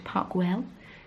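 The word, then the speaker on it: Park Güell: um that was really lovely we went to parkwell that's how you pronounce it um and we just I got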